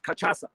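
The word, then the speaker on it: cachaça: this this word and they said it's called kachasa it's called for crying out loud mahimba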